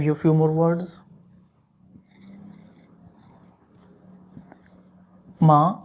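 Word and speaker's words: ماں: Ma, ma means mother. Ma, ma, not man, okay? But if you remove the N, it just become ma.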